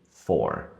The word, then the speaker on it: four: Então, na hora da pronúncia, não tem diferença alguma entre o número for e a preposição for, apesar de ter uma letra a mais.